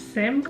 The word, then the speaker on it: Cyme: Leila and today I'm so excited to show you my new baby my Poland seim bag some people call it s but I'm pretty sure the right pronunciation is Sim so before we begin